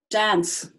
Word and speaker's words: dance: Dance. I love to dance. What's the E doing there? Got final silent E again. This time, it's making the C say S. Otherwise, that word would be dank.